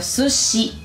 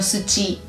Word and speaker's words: sushi: Los japoneses no saben decir sí. Dicen shi, por ejemplo, sushi. ¡Qué ojo! Dependiendo de cuál sea tu país, puede que sushi lo pronuncies de otra manera. Ahora que estás aprendiendo japonés, vas a pronunciar sushi y no sushi o algún similar.